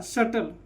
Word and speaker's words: subtle: Silent. तो क्या होगा? SU से टी से ट, LE से ल, शटल।